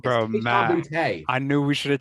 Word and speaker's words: Boutte: They kept on saying Kayshon Booty.